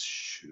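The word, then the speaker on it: 嘘: Chinese is XU, but we pronounce it as shu.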